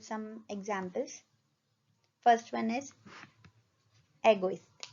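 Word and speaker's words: égoïste: First one is egoist. A is grave accent and trema, तो दोनों को हम अलग प्रोनाउंस करेंगे।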